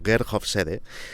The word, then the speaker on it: Geert Hofstede: En los años 60, el psicólogo holandés Gerfede, que en este episodio de No es asunto vuestro vamos a escribir como Gerhof Sede y vamos a pronunciar como Gerhof Sede, trabajaba para el departamento de recursos humanos de IBM.